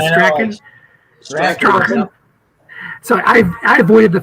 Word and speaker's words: Strahan: Not Strahan, but Strachan.